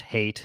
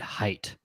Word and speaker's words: Hayt: frank picked it um i didn't know it was even pronounced hate until i listened to the audiobook so glad i did that axis 77 on youtube says i always pronounced it height see there's enough of us out there that don't know how to pronounce it well when i first heard the audiobook when they said hate i thought i was like eight like i hate you like that and then